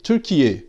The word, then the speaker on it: Türkiye: d'Inde, et que les Turcs trouvent insultant, mais Türkiye, comme les Turcs le prononcent eux-mêmes.